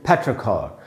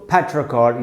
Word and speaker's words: petrichor: और ये जो र है दोस्तों, ये मैंने ब्रैकेट में लिखा है, यानी ब्रिटिश इंग्लिश में इस र को नहीं पढ़ेंगे, बोलेंगे फैट्रखॉर, लेकिन अमेरिकन में पढ़ेंगे फैट्रखॉर। तो दोस्तों फैट्रखॉर ये इसका प्रोनाउंसिएशन है, और ये एक नाउन है।